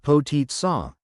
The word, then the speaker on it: Potica: Today, we're going to make Potica, pronounced Potica, a classic Slovenian rolled pastry.